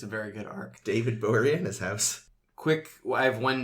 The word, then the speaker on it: Boreanaz: I always thought it was Borneaz. No, it's Boreanaz.